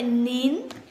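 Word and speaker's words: 您: Nỉ có nghĩa là bạn, vậy nín là thể lịch sự của từ này. Mình sẽ có ông, bà, bác, ngài, những người mà chúng ta kính trọng thì chúng ta sẽ đọc là nín.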